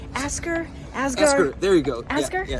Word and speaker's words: Asger: Did I pronounce it right? Asger? Asger.